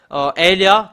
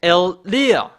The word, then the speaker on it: Elia: Those who want to get along with Elia, come back. It's Elia. That is the real pronunciation, Elia.